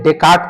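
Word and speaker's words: Descartes: याद रखेंगे तर्क बुद्धिवाद और रेशनलिज्म के जो प्रवर्तक हैं उन्हें डेकार्ट को माना गया है। इसको डेकार्ट डिस्क्रेट्स बोला जाता है। डिस्क्रेट्स को हम लोग डेकार्ट सामान्यतः प्रोनाउंसिएट उच्चारण करते हैं।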